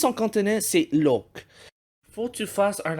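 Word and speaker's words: 六: Imaginez le mot lucky, mais sans le i. Avec ça, tu peux prononcer le numéro 6 en cantonais, donc look.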